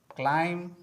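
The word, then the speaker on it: climb: कॉम, com, Baum, Baum, क्लाइम, क्लाइम, date, date, लिम, लिम, थम, थम, टुम,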